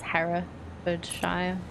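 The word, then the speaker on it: Herefordshire: to the wash okay her for sh no they a for sh yeah it works less well if you actually say it properly it's Hera shy but yeah region called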